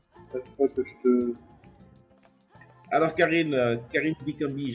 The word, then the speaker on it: Carine Dikambi: Alors, Karine Dikambi, j'espère que je prononce très bien ton nom, c'est ça? Oui, oui, merci, tu prononces très très bien mon nom.